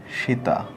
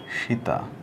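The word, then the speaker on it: 下: উপরের কাঞ্জি ছিল এটা হচ্ছে নিচের কাঞ্জি এটার উচ্চারণ হবে হচ্ছে সীতা এটার মিনিং কি এটার মিনিং হচ্ছে আন্ডার আর এটার উচ্চারণটা হবে সীতা সীতা মানে হচ্ছে নিচে এরপরে 38 নাম্বারে যে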